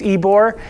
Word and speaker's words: Ybor: about ebore um you got the name right ebore it is pronounced ebore uh it's based off of ebore city in